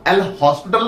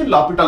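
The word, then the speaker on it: L'Hôpital: तो पक्की बात है ल पिटल रूल लगेगा एल हॉस्पिटल नहीं प्रोनाउंस उसकी ल पिटल होती है आगे चलते हैं अब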